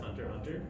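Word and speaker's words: Hunter × Hunter: logo and the title why it has an x if it's pronounced hunter hunter oh okay so the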